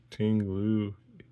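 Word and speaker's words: Ting-Lu: Fui Coco, illustration rare, terrible, the double banger, Tinglu. EX, that's how you pronounce it, a full art, so a nice double banger for sure.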